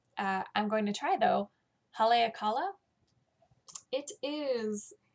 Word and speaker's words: Haleakala: main body pattern, is something that I can't pronounce by Cookie A. I'm going to try though. Haleakala. It is Haleakala.